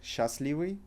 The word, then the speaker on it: счастливый: However, if you pronounce it the way you are reading, счастливый, счастливый, it's absolutely fine, people will understand you. If you remember that you need to put счастливый, it's perfect. However, don't try to overemphasize on this, that you know and you put sh or sh, then it sounds weird to Russians.